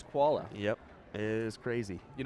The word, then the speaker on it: Chvala: No, but listen to this last name spelling: CHVALA, and And that's the koala. correct pronunciation is koala.